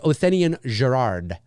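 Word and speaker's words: Othenin-Girard: or something like that it's like a how do you say his name here dominic othenian gerard yeah it's o t h e n i n o t h e n i n dominique dominique othenian gerard i believe is how you say his name um has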